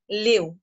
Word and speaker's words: live: LIVE ही spelling verb जेव्हा असेल त्यावेळेला आपण ती लिव म्हणून वाचतो, आणि जर ती एखाद्या ऍब्जेक्टिव्ह सारखी म्हणजेच विशेषणासारखी आली तर आपण तिला लाईव म्हणून वाचतो.